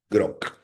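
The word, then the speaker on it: Grok: Croc, para pronunciarlo bien. Grock.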